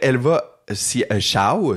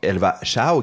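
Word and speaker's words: Elva Hsiao: Il y a aussi la fois qu'il cruisait Elva Xiao, ça se prononce Xiao, ça s'écrit H-S-I-A-O. Ça se prononce donc Elva Xiao, qui était une chanteuse taïwanaise, une très populaire à Taïwan.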